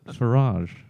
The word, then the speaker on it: Farage: heard it's Farage. That is how he pronounces it, I think.